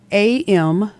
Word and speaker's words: Amitza: Amitza means brave girl in the Hebrew language, and it's spelled Amitza.